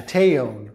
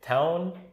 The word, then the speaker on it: Taon: What really got me pissed off in this novel was the Taon, or Taon, how do you say it? I say Taon, but Taon, T-A-O-N, however you want to say it.